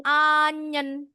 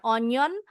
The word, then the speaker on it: onion: Onyen bacanya anyen bukan onion.